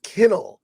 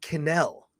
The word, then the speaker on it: Kennell: thought you were joking he says it's kennel and I was like okay kennel oh that makes sense I always said Ryan canal I just said the act I had the emphasis on the wrong syllable in any case uh